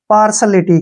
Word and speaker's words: partiality: पार्सलिटी, क्या पढ़ेंगे इसको हम, पार्सलिटी, ठीक है ना। ध्यान रखना है, यहाँ पे TIA का उच्चारण श होगा।